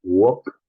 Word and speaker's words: walk: Puede ser el verbo caminar, walk. Recuerden que no se dice la L, we omit the L pronunciation, so walk.